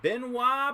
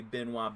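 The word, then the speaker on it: Benoit: and Benois Benjamin. Benois. I mean, if it's David Benois and it's spelled exactly the same, then it's got to be Benoa Benjamin.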